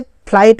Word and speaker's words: flight: जैसे कि हम आपको एग्जांपल के तौर में बता रहे हैं, मान लीजिए फ्लाइट हुआ, फ्लाइट का अंग्रेजी जानते हैं FLIGHT, फ्लाइट हुआ, इसमें GH साइलेंट है, इसको फ्लाइट पढ़ा जाएगा, ठीक है।